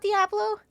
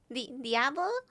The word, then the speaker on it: Diablo: Is it not Diablo? Diablo. Diablo?